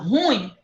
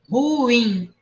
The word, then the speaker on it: ruim: Ruim. Quando eu falo ruim, forma correta, o i é bem pronunciado. Eu falo ru e falo win. É bem destacado.